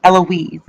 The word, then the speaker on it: Eloise: point out that um the actual pronunciation to um the storm is eloise can you repeat that eloise that's the pronunciation to this eloise storm so i'm guessing that